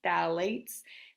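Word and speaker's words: phthalates: I know that's a funky word but it's pronounced phalates uh pfas and pesticides all right so all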